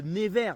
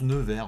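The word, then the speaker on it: Nevers: On va dans la ville de never. Never. Never. Ne never say never. Je sais pas comment ça se prononce la ville. Ne vert. Ça se prononce ne vert. Ouais. comme un nœud de couleur verte.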